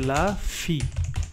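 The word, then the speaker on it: la fille: জানি যে ই দোজাইলো যখন আই ডাবল ই যখন থাকবে তখন এটা পড়তে হবে লা ফি লা ফি মানে হইলো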